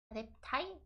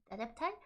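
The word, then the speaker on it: adepti: The adept I think it's pronounced adept, right? Adeptai. Adeptai.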